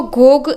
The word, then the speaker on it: Gogh: Vincent वान गोग, उसको गोग ऐसा हम प्रोनाउंस करेंगे, उसका यही सही प्रोनाउंसिएशन है.